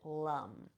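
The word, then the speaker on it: Lam: then we're going to intone the seed sound Lum it's spelled l m but we we pronounce it Lum okay now close your eyes here bring your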